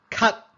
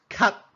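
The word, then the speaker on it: 咳: the late stage coughing we call it cut just one syllable cut do you have coughing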